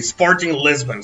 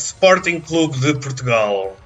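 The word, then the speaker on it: Sporting Clube de Portugal: the news the media they say sporting lisbon sporting lisbon but it's not sporty lisbon it's spartan club the portugal a spartan club of portugal that's the the right way to say the name of my club yeah i know arnold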